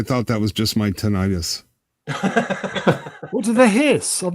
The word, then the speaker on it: tinnitus: I thought that was just my tinnitus. What do they hiss? I've never. Everybody hisses. Is that how Americans say it? Tinnitus. Tinnitus, potato. Americans say tinnitus. Yep.